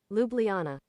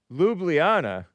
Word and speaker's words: Ljubljana: Ljubl Ljubljana, Slovenia pronounce. Okay. Ljubljana. Ljubljana.